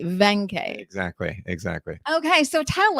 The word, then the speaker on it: Waenke: with i almost said wayne k so i'm glad i didn't do that we're going to pronounce it as a v venkai exactly exactly okay so